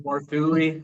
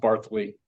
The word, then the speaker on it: Barthuly: It looks like Barthuly, but it's actually pronounced Barthuly.